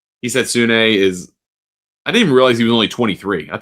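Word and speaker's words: Hisatsune: Rio heetsune who I've been saying heetsoon. Never heard the name pronounced and they they made a nice emphasis of it on the PJ tour broadcast this weekend. So going to make sure I say it right.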